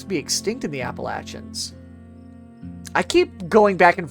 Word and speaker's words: Appalachia: I've heard it pronounced Appalachia by people from there. Appalachia. I like Appalachin. I like Appalachia. That's I think that's I think that's how I would typically prefer to pronounce it.